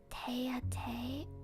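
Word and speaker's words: tête-à-tête: てて確かにててに聞こえますね。It's read as te-a-te. Oh, interesting. Te-a-te. That sounds even more like te-te.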